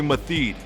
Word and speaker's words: Meathead: My name's Matheed, and this is Matheed's Gym. That's spelled M-E-A-T-H-E-A-D. That spells meathead. Would you call me? Cut! Hey, how you doing? I'm Meathead. Matheed.